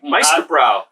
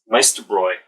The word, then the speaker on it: Meisterbräu: Meisterbrow. And in German, that's pronounced Bräu. Meisterbräu. Well, I can see that. That's because the umlaut.